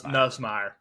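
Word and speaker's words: Nussmeier: Nus Nusmeer said it right.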